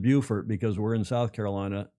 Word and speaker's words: Beaufort: In North Carolina, it's Beaufort. But in South Carolina, further south, Jim Sears says it's pronounced Beaufort. B E A U is pronounced Beaufort. Okay. Well, I should have said Beaufort because we're in South Carolina, not North Carolina.